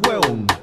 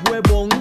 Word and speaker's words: hueón: Y si no usamos mae, usamos hueón. Pero atención con la pronunciación, que no es huevón, sino hueón. Escuche cómo la palabra se contrae.